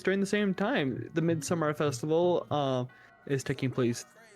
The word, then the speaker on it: Midsommar: Every Swedish character calls it Midsummer. And if you have subtitles on, which I do for everything I watch, it's spelled the same way as the title. But it's Midsummer. Because just because something's spelled a certain way doesn't mean it's said that way, you dumb [ __